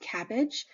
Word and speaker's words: CABG: BMT is a bone marrow transplant cabg is pronounced cabbage and it is a coronary artery bypass graft